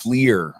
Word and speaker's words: FLIR: note on that uh somebody uh commented that it's pronounced fleer as far as the